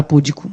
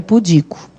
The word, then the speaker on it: pudico: Se a pronúncia é esta, pudica, qual é a sílaba tônica? É o di. O pudico é o di.